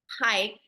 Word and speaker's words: hike: Hike is not like height.